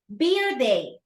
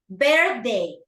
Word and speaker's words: birthday: Beer day, birthday, okay? Because you can have a beer day, actually, but that is different meaning, okay? My beer day is today, teacher. Because you're gonna have a beer day, okay? But the birthday is only once a year, okay?